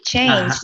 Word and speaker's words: changed: Changed. Yeah, the sound is with D. So it's changed. Oops, sorry. Changed. Very good.